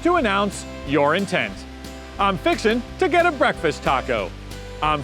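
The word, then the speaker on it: fixin' to: te' while it's spelled as fixing to you pronounce it fixing to it's simply an expression used to announce your intent I'm fixin to get a breakfast taco I'm fixin to mow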